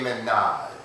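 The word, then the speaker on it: ménage: today I'm going to be doing s De Minaj and it's spelled me n a Minaj it's the same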